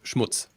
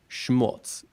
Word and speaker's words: Schmutz: cool uh thing so what's the right way to pronounce it well it is Schmutz but um yeah as as a native English speaker it's always more like Schmutz Schmutz something like that it's just a tiny little difference okay um I love